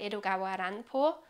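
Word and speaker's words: 江戸川乱歩: of Edgar Allan Poe, because if you spell it in a different way, it's Edgawa Ranpo. So it sounds like Edgar Allan Poe.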